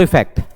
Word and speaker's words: effect: अफेक्ट में अ का pronunciation आ रहा है और इफेक्ट में ई